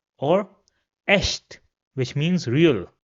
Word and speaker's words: echt: In all the other cases, it will be pronounced as sh.